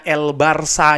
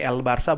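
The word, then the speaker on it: El Barça: La Liga tim katalunya El Barca ini ya Sekali lagi El Barca bukan El Barca El Barca Barcelona ya kan El Barca bacanya itu pastinya mereka juga akan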